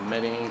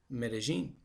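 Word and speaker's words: Medellín: my way to medellin you'll notice that earlier in this video i'm referring it to medellin when it's medellin and i really don't know why but that's how it's pronounced so you must pronounce it that way and um i was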